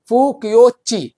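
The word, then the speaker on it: Fo-Kuo-Ki: और ये second number point, book का नाम, फायान की बुक का नाम है फुक्योची। अब ची है लेकिन की लिखा है, लेकिन ऐसे लिखा जाता है, प्रोनाउंसिएशन ही यही है।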